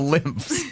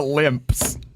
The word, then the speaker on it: lymphs: and like drain it the lymphs not the limps that's an f f sound at the end the limps sorry the